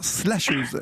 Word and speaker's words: slasheuse: Vous avez remarqué que j'ai un peu du mal à dire slasheuse. Il faut bien prononcer le S. J'ai essayé de pas trop le répéter parce que j'aurais tendance à dire che et non.